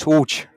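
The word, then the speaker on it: Łódź: Yeah, it's hooch.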